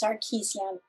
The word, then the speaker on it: Sarkessian: say it properly please the family pronunciation is sarkeesian but you know whatever